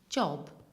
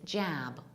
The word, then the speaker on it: job: one and bridge accent its job with short oh job an American accent it's jab with a longer shorter